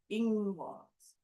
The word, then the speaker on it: Ingwaz: But we have Ingwaz. Ingwaz. The accent is always on the first syllable with the elder food art runes.